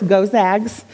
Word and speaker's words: Gonzaga: leadership from Gonzaga and I looked that up to make sure I'm pronouncing it correctly it's go sags I know this now and a bachelor's